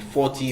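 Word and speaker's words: forty: you need to stress out on the first syllable on the T, on the 40, 50, 60.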